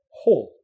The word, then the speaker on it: whole: but not right so be careful about pronunciation sometimes people might think you're mixing them up just because of pronunciation all whole make sure you get that h sound and the o sound together now what's the difference